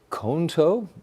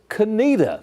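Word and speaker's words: Conetoe: It's the town of We look at that and you go, "Well, it's got to be Konto." Not right. The town was founded in 1887. It's just south of Tarbor and it's Canita. That's a pronunciation.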